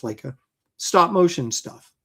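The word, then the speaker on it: Laika: So that does all the Leica, I think it's Leica, pronounced Leica, stop motion stuff, right?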